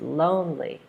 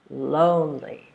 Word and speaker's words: lonely: All right, the second word is lonely. Lonely. Lonely. And the last word, we're still stressing the first syllable.